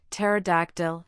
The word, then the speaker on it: pterodactyl: In words derived from Greek, the initial P in the diraph PS is silent as in psychology, pterodactyl and pneumatic.